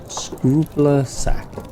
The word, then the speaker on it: Scrupulac: The DMPC was a level 20 goblin named Scrupulac, pronounced Scrupler Sack, also I don't know how to spell.